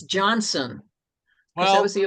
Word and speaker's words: Johnstone: Correspondence from Deep regarding Johnstone Pond Dam. You know, it's not John Stone, it's Johnson.